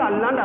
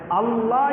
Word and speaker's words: அல்லாஹ்: அல்லாஹ் சொன்னான்னா நாலு எழுத்துதான் என்ன வார்த்தைங்க அல்லாஹ் கடைசில ஹா வரணும் அல்லாஹ் சொன்னான் நம்ம பேசும்பொழுது